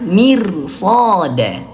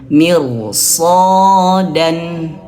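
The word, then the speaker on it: مرصادا: Huruf tebal shad berharakat fathah maka dia dibaca tebal rnya dibaca tebal jangan mirsada tapi mir mir tebalkan mirsodan mirsodan jangan jangan tipis mir mir shodan jangan mir tapi mir tebalkan Dan seperti itu.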